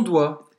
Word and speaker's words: doigt: É cheio de letra, mas a gente só vai pronunciar como se fosse assim, doigt. Doigt. Não pronunciar o G e o T. E o T, exatamente. E ó, em francês a gente vai falar oie.